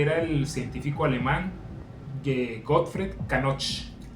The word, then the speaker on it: Knoch: Y este era el científico alemán Gottfried Kanoch. Kanoch, como se pronuncia en alemán real.